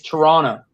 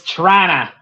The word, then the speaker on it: Toronto: It's the You don't pronounce the other T. It's Toronto.